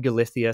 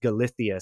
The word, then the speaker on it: Galicia: the United States uh the pronunciation would be more like Galicia or Galicia but in Spain they have that bit of that like that lispy kind of thing so it's galithia Spain and uh he